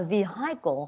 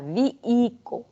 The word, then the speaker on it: vehicle: So chữ này mình sẽ đọc là vehicle hoặc là vehicle với âm h ở đó, âm hờ ở đó. Mình sẽ silent, mình sẽ làm, nó sẽ là âm h câm ha. Cho nên mình sẽ đọc là vehicle, vehicle mới là cái cách đọc đúng ha.